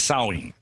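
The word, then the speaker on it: Samhain: a IM but when you say it as sewing and yeah that's the that's the ancient ancestor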